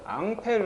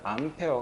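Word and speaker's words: Ampère: 안 있습니다 그렇죠 예를 프랑스 밖에도 앙페르 한 사람이 있어 땀에 얘를 영어 식으로 발음하면 암페어 가 된거 다 됐죠 a 를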